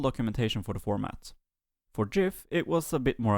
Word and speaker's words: GIF: Windows bitmaps, and gif. And to everyone having opinions about how I said that last one, be assured that I do say it with a hard G in other languages.